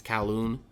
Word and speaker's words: Kowloon: uh waterway is a kowloon i want to pronounce it right i think it's kowloon and that's where all the shops seem to